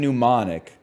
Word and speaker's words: mnemonic: Gnome and mnemonic have the silent letter at the start.